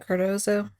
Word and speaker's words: Cardozo: Is that how you say it? Cardozo?